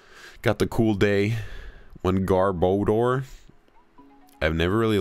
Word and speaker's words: Garbodor: Odor, because I feel like it's like odor, right? Like smell. Odor, bad smell.